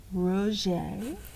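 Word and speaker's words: Roget: boy named Peter Mark Ro pronounced Ro see how that is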